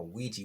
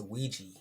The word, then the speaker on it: Ouija: In the movie, this little young lady had been playing with something called a Ouija board, and she ended up getting possessed and